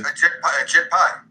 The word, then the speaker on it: Ajit Pai: That's what happened, and the FCC chairman, whose name rhymes with a SHIT pie, right. Was a former lawyer for Verizon. That's him. That's the, what's his name, Ajit? His name is Ajit? Yes, Ajit Pai.